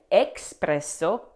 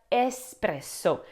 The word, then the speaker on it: espresso: Well, you shouldn't say espresso, but espresso. There are no X's in espresso. Now, this is a very common mistake. Many English speakers sayo because espresso looks like the English word express. But in Italian, there is no X sound. The E S at the beginning should sound like the start of escape.